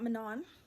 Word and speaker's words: Manon: be a thing, but it's not Manon, it's not Maninon, it's not Manu, it's Mano. If you speak French, like you've heard this name before.